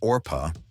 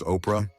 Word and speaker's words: Orpah: of miraculous originally named orpa after a Biblical figure her name was frequently mispronounced as Oprah until that version stuck becoming the iconic name